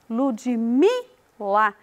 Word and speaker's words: Ludmila: Por exemplo, no meu nome, Ludmila, Ludmila, o mi é pronunciado com mais ênfase.